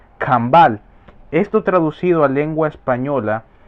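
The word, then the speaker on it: Canabal: Se escribe básicamente C-A-N-A-B-A-L. Caán Abal. Y su fonética o forma de pronunciación es Cambal.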